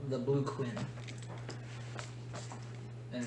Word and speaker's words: Quen: So he tells you that there is a tattoo shop called the Blue Quinn, and it's spelled Quen.